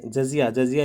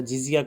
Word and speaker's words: जजिया: जजिया ये हिंदुओं से लिया जाने वाला कर था हमारा, जिजिया किसने बताया था, वो इसका प्रोनाउंसिएशन हिंदी में हमारा जजिया होता है ना।